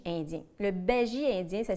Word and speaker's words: bhaji: festin indien je vous conseille d'accompagner ça du Baji indien le Béji indien ça s'écrit bhaji ça se trouve facilement sur Internet